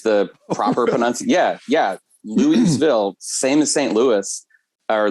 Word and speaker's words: Louisville: were having a uh if you're from here you say like you have a mouth full of marbles louisville uh but it's louiseville is the proper peninsula yeah yeah louiseville same as st louis